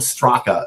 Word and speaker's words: Straka: It's spelled Straka, S-T-R-A-K-A.